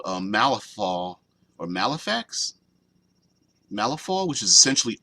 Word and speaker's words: Malifaux: Malifaux, that's what I was thinking, Malifaux instead of Malifax, because it's a F-A-U-X, not F-A-X.